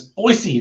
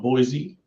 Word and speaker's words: Boise: the song Boise, not Boise. Some locals were rude to her. It was probably you, dude. Probably. You probably told her off and said, it's Boise, not Boise.